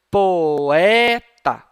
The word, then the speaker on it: poeta: No caso dessa palavrinha aqui, o O e o E, não, você não vai pronunciar tudo junto como se fosse E, como na palavra mirror. Você vai pronunciar separadamente.